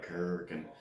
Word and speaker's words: Kuryakyn: That's pronounced right, Kuryakyn.